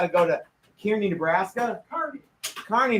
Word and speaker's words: Kearney: Kearney, Nebraska, which is how they pronounce it, but not how they spell it.